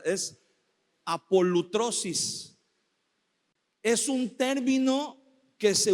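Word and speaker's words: ἀπολύτρωσις: es está media rara y media difícil de pronunciar. Es apolutrosis. Es un término que se usaba, fíjese bien, en los tiempos del Nuevo Testamento, el término apolutrosis se usaba para referirse cuando los esclavos en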